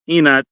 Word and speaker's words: ingat: don't say you don't say ingat. You say just inat because the Enoch. G is silent.